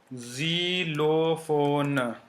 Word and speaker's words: xylophone: Then the third sound is z, z. So in the starting and sometime also between two vowels.